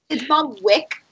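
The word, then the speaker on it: Balmwich: That she's from Balmwitch. That's about it. It's Mom Wick, Wait. but it's spelled with a CH, so you're fine.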